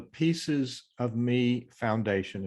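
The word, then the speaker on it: Peaces of Me Foundation: So it's called the Pieces of Me Foundation, is that right? Correct. And it's spelled P-E-A-C-E-S, and that is a play on words.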